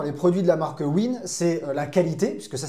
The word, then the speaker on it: UYN: Alors juste pour rappel, pour ceux qui ne connaissent pas la marque Win, ça s'écrit UYN, c'est l'acronyme pour Unleash Your Nature, et c'est une marque italienne créée en 2018.